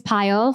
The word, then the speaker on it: Payal: for that me my name is payal for those that don't know that's pronounced like a pile of data or a pile of data science projects I'm an immigrant I